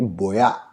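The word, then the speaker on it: voy a: मतलब कोई भी वर्ड जो स्पेनिश में वी से स्टार्ट होता है उसको हम लोग बी प्रोनाउंस करते हैं। तो इसको हम लोग वोया नहीं बोलेंगे, इसको बोलेंगे बोया, बोया।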